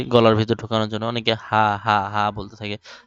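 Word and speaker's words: ح: ভেতর ঢুকানোর জন্য অনেকে হা বলতে থাকে আইন আইন আইন আইন বলতে থাকে গলার ভেতর আর ঢুকায় না গলার ভেতর ঢুকিয়ে হা আইন হা আইন এভাবে উচ্চারণ করতে হবে আর এটারে সা বলে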